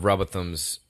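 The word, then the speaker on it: Rowbotham: I think it's Robot Ham. I gave you shit for it, but it's kind of hard. It sounds like Robot Ham.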